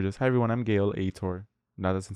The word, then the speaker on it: Aitor: Because I'm like, I think Aitor, I settled on Aitor, not Ator. I'm like, okay, Aitor. But I'm like, hi everyone, I'm Gael Aitor. Or just, hi everyone, I'm Gail Aitor.